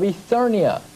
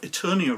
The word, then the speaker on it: Eternia: human and kids cartoons gets the name of Eternia wrong first of all calling it ethenia which is a strictly strange pronunciation especially for someone who is as he says is an expert on this song Perhaps he's not watched